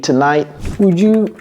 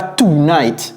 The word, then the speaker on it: tonight: you mind working late tonight minding late j'ai dit comment on prononce ça c'est pas tight c'est tonight si un Américain vous